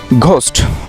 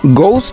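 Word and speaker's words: ghost: মোস্ট অফ the time তোমরা ঘোস্ট উচ্চারণ করো। আসলে ঘোস্ট এটি অশুদ্ধ উচ্চারণ। সঠিক উচ্চারণটি হলো গোস্ট ইজ দ্য রাইট pronunciation of ঘোস্ট। সো আজকে থেকে জেনে রাখো, কখনই ঘোস্ট বলা যাবে না, তোমাদের বলতে হবে গোস্ট।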